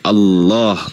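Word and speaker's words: الله: Karena dalam bahasa Arab alif lam lam ha itu bacanya itu bukan Allah. Tapi dibaca tafkhim, dibaca tebal. Jadi Allah gitu, bukan dibaca tarkik, kuculuk.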